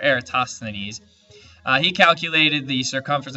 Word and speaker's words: Eratosthenes: ideas this guy erastastinis tough word to say era and ease it's uh sth that's the hard syllable right there eratosthenes uh he calculated the